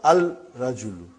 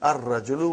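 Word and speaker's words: الرجل: then brother the man not Al rajulu ah it will be wrong to say it will be our rajulu we won't pronounce love why because it is a sun letter and then brother the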